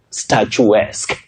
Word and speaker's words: statuesque: Statuesque. A bit tricky because almost everybody who tried didn't get it right. But you say statuesque. Can you try at home? Good. Statuesque. Just like the word picturesque. Picturesque.